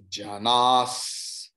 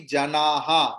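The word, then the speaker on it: जनाः: Visarga is there, but here it will not be janaha because it is not ending letter. So Visarga will be chanted what the following letters are. So Janaha Sukrita. So Visarga will be transformed into Sakara.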